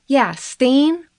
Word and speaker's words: Stehn: Both sides questioned him, and it was kind of funny because, Stain rhymes with crane, so sometimes during his testimony, the lawyers would accidentally call him Mr. Crane.